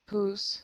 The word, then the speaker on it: whose: Whose? Yeah, you've got to get that at the end, whose. Otherwise, it just sounds like who.